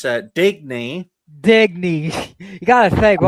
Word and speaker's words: Digny: Well, my future plans are to educate this entire panel how to pronounce my name. It's Digny.